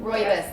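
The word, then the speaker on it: rooibos: So it's got juniper berry, green rubius leaf, rubius rubos. Roy, that's how you say it. Royus leaf. Um hibiscus flour, rose hip, seabbuckthorn berry, and dandelion root.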